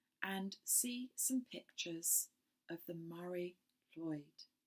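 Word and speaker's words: Mari Lwyd: see some pictures of the Mary Lloyd. I'm not very good at Welsh at all, but it's spelt Marylwyd.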